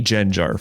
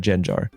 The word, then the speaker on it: Gengar: lot of comments like why do you pronounce it as jenar and I guess I'll explain like uh that's how I pronounced it as a kid when I first saw it and you have to